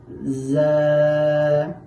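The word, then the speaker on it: ز: র র এখন আমরা শিখব জা জা। এই জা হরফটি উচ্চারণের সময় জিহ্বার আগা সামনের নিচের দুই দাঁতের পেট ও আগার সাথে লাগাইয়া উচ্চারণ করতে হবে।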